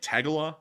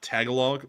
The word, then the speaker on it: Tagalog: sorry about that uh it's apparently it's like tagala uh not Tagalog so there we go